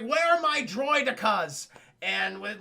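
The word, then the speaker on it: droidekas: I prefer droidicas, as Nute Gunray pronounces them. That's the correct pronunciation in my opinion, Chad, droidicas.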